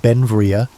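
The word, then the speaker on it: Beinn Bhreagh: Later in life, Alexander Graham Bell retired to Bayon Brag in Baddock on Cape Breton Island, Nova Scotia. Pronounced Benvia, Bel became an American citizen in 1882, but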